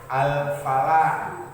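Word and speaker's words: الفلاح: Itu al qamariyah, kayak contoh al qamariyah itu kayak contoh al falah. Nah, itu alif lam ketemu sama fa sehingga L-nya kebaca jelas. Al falah, L-nya jelas.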